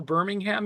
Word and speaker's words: Birmingham: grocery store I'm like are we in actual Birmingham yet or are we still on the outskirts